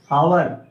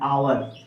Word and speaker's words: hour: इसी प्रकार से देख लीजिए HOUR, हावर, पढ़ते क्या है, आवर, इसलिए हमने यहाँ पर किसका प्रयोग किया है, प्रोनाउंसिएशन।